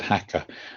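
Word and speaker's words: Jaca: It's spelt with a J, but it's said Hacker.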